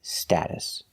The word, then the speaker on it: status: in American English status we're using the short a sound like apple and black cat sta status the T in the middle is pronounced like a fast D status status the second syllable is pronounced with a relaxed uh uh like cup and up status status status status